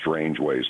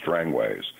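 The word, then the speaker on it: Strangeways: Americans would say strange it's not strange ways prison in England it's strangways so anyway I hope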